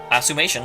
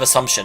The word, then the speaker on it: assumption: That's my assumation. I don't know why I always do that. I always say assumation instead of assumption, even though I know bloody well how it's supposed to be pronounced.